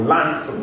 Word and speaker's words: Launceston: Now, I bought my farm down in a place called Launceston, or Lanston is the way it's pronounced down there.